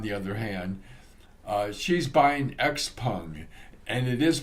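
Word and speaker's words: XPeng: other hand she's buying x-pung and it is pronounced x-pung i'm told at least that's the way they say it in china and so i'm going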